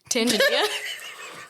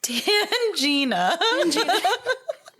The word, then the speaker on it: Tangina: Tanginia. Listeners, I can't pronounce her name. Okay, it's Tanginia? No, you're throwing me off now. It's Tangina.